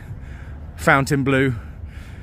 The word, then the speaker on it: Fontainebleau: news in Vegas really Fountain Blue it's spelled Fontaine Blue uh but I went